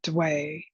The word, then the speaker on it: Tui: Tui is actually Dway.